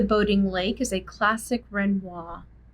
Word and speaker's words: Renoir: by pierre gusta renoir for a long time i pronounced his last name renoir but it's renoir all right in this